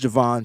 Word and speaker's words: Javon: And his name is also Javon, pronounced Javon, spelled the same way as Javon, but pronounced differently, Kinlaw, the 3rd leading player in pressures.